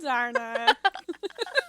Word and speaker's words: Andarna: Last chapter, we got Tairn's name, and this chapter, we finally get Andarna.